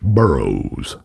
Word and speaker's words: Burrous: it's burrows like Greek or something but he pronounces it burrows anchor Chris burrows died from overdose on crystal